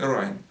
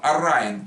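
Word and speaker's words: אַרײַן: Фалтман Элейн Эрайн. Значит, я на английский говорю Эрайн, это самое, а там Арайн, вот так вот произносится.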